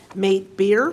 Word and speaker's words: Mate: Thank you for pronouncing Mate Beer correctly. It's M8, but we always are happy to hear, good day, mate.